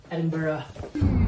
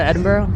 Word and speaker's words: Edinburgh: to Edinburgh is that how you say it Edinburgh about to go to Edinboro pretty straightforward hop on the M8 takes about